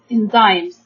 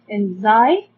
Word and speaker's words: enzyme: Okay, we can divide the word enzyme into 2 syllables. N. Then we have, and then Y makes the sound like I. Okay, like long sound for the letter I. Enzymes. Enzymes. Okay.